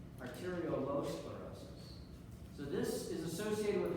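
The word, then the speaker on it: arteriolosclerosis: spelled Aro L sclerosis so I'm exaggerating l in the middle Aral low sclerosis so this is associated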